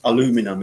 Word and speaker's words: aluminum: an aluminium Alec sy Americans it's aluminum isn't it because they've in in